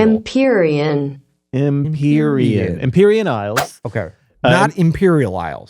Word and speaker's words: Empyrean: wanted to be sure imperian that's such an official Imperial it's I didn't like saying like it because it sounds like Imperial imperian imperian imperian ises okay Imperial Isles